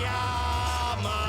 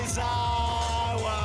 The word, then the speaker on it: Yamazawa: We feel the same things like say my name right, respect my. Everybody say Yama. Everybody say Zawa. Everybody say. We are at my parents' Japanese restaurant called Yamazawa.